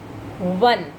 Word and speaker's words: one: One. The sound is, the spelling is O-N-E 1, but the sound is as if you are writing W-O-N-1. The sound of W comes. One.